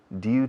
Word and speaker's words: due: Hay dos pronunciaciones. Due to, se escribe due. Due to or due to. You can choose the one you like the best.